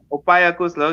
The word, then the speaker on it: upaya kusala: Opaya Kusula.